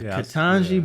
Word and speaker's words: Ketanji: congratulations to ken katanji is that how you pronounce it yeah katanji brown jackson the first black woman in 200